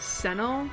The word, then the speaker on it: Senno: But in Japanese, but apparently the way the Japanese pronounce his name is Senno, so I'm just gonna refer to him as such.